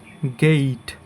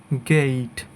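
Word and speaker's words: gate: সো প্রথমেই আছে আমাদের এইট, এইট, এরপর এটার উচ্চারণ হবে গেইট, গেইট। ওকে, সো এটাকে আমরা সাধারণত কি বলি? গেট। এটা হচ্ছে আমাদের ভুল উচ্চারণ, সঠিক উচ্চারণ হবে গেইট।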